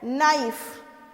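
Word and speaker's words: knife: उसके बाद क्या है, नाइफ, ऑब्वियसली के साइलेंट होता है नाइफ में, ओके।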